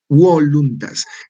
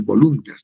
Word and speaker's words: voluntas: La justitia est constans et perpetua voluntas. Esta B, que parece B, debería ser voluntas, ¿no? Es voluntas. Se pronuncia como U, ¿ya?